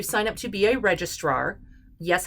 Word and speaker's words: registrar: up to be a registrar yes i am actually putting an extra r in there it's not register it's registrar r-a-r make sure you can